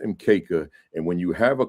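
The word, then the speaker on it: mkeka: ma right everything is in kisuahily and it's pronounced mka and when you have a quanza display when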